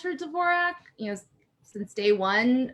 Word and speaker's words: Dvorak: stage name um so she initially wanted it to be pronounced borjack but almost out of the gate the common pronunciation was dvorak so she just conceded defeat really early on and so i've always